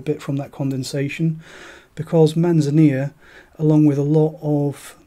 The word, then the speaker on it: Manzanilla: doesn't matter too much so manzania not Manzanilla not the pronunciation matters too much is a Spanish fortified